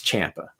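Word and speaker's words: Ciampa: also Champa Champa okay everyone pronounces it wrong but I remember a long time ago years ago he had put on his social media somewhere like a correct pronunciation of his name so it's Champa so just so everyone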